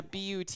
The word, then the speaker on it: Butte: Butte, Montana. Yeah, Butte. Is it the one spelled like But Yes.